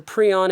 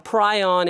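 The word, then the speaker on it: prion: molecule otherwise known as a pron if you're if you're from Greece like I am or a pryion if you're from the US which is the same thing. It's just pronounced differently spelled the same though.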